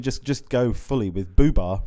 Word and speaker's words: Boobah: just go fully with BBA rhymes with tuba yeah and I think